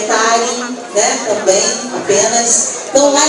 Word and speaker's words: Taryn: Meu nome se escreve TARYN, e lá eu estou sempre atualizando a agenda, assim como na minha página do Facebook, que é Tari, né, também, apenas.